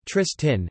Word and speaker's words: Triestin: Today, the dominant local dialect of Trieste is Triestine, Triestin, pronounced Tristin, influenced by a form of Venetian.